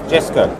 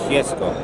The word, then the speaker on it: Jesko: from con Z yes how do you pronounce it jessco jessco or if you want to be Swedish Jesco yes go okay and